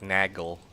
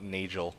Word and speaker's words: Nagel: Anyway, uh nagel ring should be pronounced with a soft g.